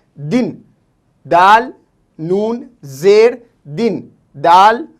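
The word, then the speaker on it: دن: ठीक है, और इसी तरीके से दूसरा लफ्ज़ है दिन, दाल नून जेर दिन, दाल नून जेर दिन, और दिन को इंग्लिश में डे कहते हैं।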